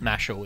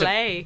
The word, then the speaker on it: Mashle: I don't know how to pronounce the name properly, but I call it Mashal. It's pronounced spelled Mashle. Yeah, right. Ma- And it's Mashle.